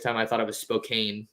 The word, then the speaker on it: Spokane: for the longest time i thought it was spokane not spokane so um yeah he did himself some favors